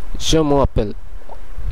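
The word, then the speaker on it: je m'appelle: যেহেতু ম এর শেষের কনসোনেন্টটি ও এবং তারপরের শব্দের শুরুর কনসোনেন্টটি আ সেহেতু ম এর এ ওটা কেটে যেয়ে এখানে একটি অপস্ট্রফি বসে যাচ্ছে এবং এর উচ্চারণটিও বদলে যাচ্ছে লেখার দিক দিয়ে যেমন বদলাচ্ছে উচ্চারণের দিক দিয়ে বদলাচ্ছে এটির উচ্চারণ হবে জমাপেল জোমাপেল জমাপেল জমাপেল দ্বিতীয় উদাহরণটি হচ্ছে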